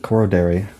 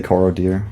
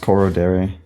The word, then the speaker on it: Korodari: Korodari. That's how you pronounce it. You say Korodir? Well, it's pronounced Korodari. That's a real and official.